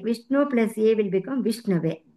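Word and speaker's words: विष्णवे: Vishnu plus A will become Vishnave. Please pronounce it as Ava plus A. Ava instead of Au.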